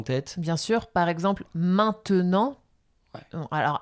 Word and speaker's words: maintenant: le E au milieu d'un mot, eh bien, on va pas prononcer. On va donner un exemple. T'en as peut-être un en tête. Bien sûr, par exemple, maintenant.